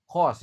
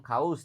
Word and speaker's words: cause: Cause ya. Au dibaca O. Oke. Au dibaca O bukan kaus tapi cause. C-nya dibaca K.